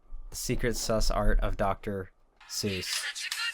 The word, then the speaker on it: Seuss: sus art of Dr Seuss which originally is supposed to be pronounced soy but I'm not going